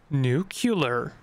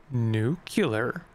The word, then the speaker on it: nuclear: I don't know clear New Killer it's pronounced nuclear can we uh imbibe